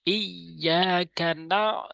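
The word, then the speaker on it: إِيَّاكَ: তিন চার নাম্বার আয়াত ইয়াকা চাপ দিয়ে বলতে হবে শক্ত করে এখানে না শক্ত করে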